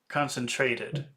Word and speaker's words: concentrated: So if you want to say concentrate in the past it adds an extra syllable. That's right. Yep. Concentrated.